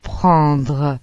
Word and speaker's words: prendre: Las letras A, N, O, E, N, o menos frecuentemente, A, M, O, E, M se pronuncia. en, Por ejemplo, el verbo prendre, que significa coger.